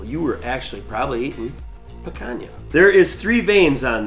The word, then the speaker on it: picanha: backyard barbecue fun today we're gonna cook a picanha or how maybe some Wisconsin people let's say Pitt can hop it's how you spell